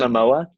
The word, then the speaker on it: Momoa: Jason Jason Momoa, Jason Momoa.